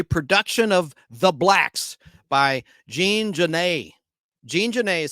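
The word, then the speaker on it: Genet: of the blacks by Jean Jan Jean Jan is spelled j j a an Jan G NE T the t is silent and he was there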